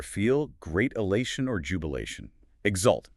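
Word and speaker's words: exult: Exalt e x u l t.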